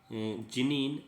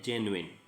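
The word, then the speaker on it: genuine: इसका नॉर्मली अपन इंडियंस हैं, इसका प्रोनाउंसिएशन जो है वो बोलते हैं जिनीन, लेकिन नॉर्मली है जेन्युइन।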